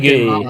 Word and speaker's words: Hague: The Hague. The Hague, Mhm. maybe. Yeah. It's weird how they call it the Hague.